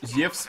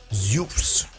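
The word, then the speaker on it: Zeus: Точнее, я уже привык, еле привык, что Зевс это Зеус. Зюс, точнее, правильно говорить. Зюс.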